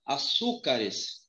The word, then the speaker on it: açúcar: Se eu falar açúcares? Ó, não, por quê? Porque a sílaba mais forte é o su.